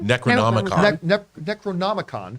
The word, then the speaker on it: Necronomicon: They stumble across the I always mispronounce or try to say it out loud. Necronomicon? Necronomicon.